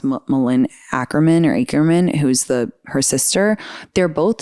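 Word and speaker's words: Malin Akerman: Also like Katherine Heigl and I think it's pronounced Malin Ackerman, who's her sister.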